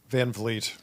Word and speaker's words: Van Vliet: I think that if I were to do it again, I would have made my last name Vleet, so it would be phonetic.